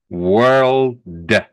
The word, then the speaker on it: world: about Kim this word here world we we have to make sure we pronounce the D otherwise I don't think